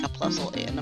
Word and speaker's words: Plusle: Oh, Plusle and Minun. Yeah, Puzzle and Minun.